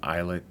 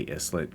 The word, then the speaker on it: islet: Maybe that's an islet there, or an islet. Don't say islet, but if it helps you spell it, I-S-L-E-T, then that's okay. Just don't say it that way.